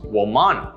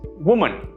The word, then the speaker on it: woman: If you just read it out aloud, it would come out to pronounce woman, which is not how it's pronounced, right? The correct pronunciation is woman, woman. Notice that this has nothing to do with how it's spelled.